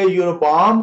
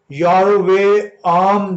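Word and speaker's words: ירבעם: नबात का बेटा यरोबाम, अब इसको मुमी तौर पे यरोबाम कहा जाता है, लेकिन इसकी जो इब्रानी है में नाम है ये, तो यारोवे आम जो है इसको प्रोनाउंसिएट किया जाता है, इसका तलफ़्फ़ुज़ है यारोवे आम।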